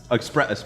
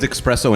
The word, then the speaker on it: espresso: buzz besides the coffee like express okay what's wrong with espresso and espresso it's the same thing it's pronunciation yeah you're just saying a word wrong all right after all